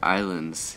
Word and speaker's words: Ylands: I guess it's Easter Island's statue and Easter Island's head. I have learned that the correct way to say Wylands is Islands. So, I guess it's just a cutesy way of saying Islands.